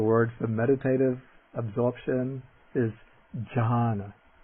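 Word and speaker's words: jhāna: The word for meditative absorption is John. John.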